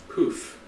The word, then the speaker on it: pouf: A variant spelling of poof. Poof.